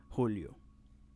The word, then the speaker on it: julio: it now we have the letter j which in spanish is pronounced like ha hota and yeah in